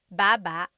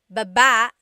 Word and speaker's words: baba: So depending on how you're saying it, it could be baba, chin, baba. Emphasis is on the first syllable, baba. Then there's baba. Emphasis is on the second syllable.